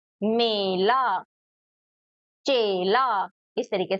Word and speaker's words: मेला: यहां पे है मैला तो दोनों के आप देख सकते हो प्रोनाउंस करने का तरीका थोड़ा डिफरेंट है एक है मेला और एक है मैला पहला तो एक में हम लोग ए पढ़ रहे हैं और एक में ऐ।